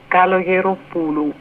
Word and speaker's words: Kalogeropoulou: Kalogeropoulou.